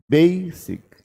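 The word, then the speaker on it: basic: बेसिक, बेसिक। बेई सुनाई देगा, सिक कम सुनाई देगा।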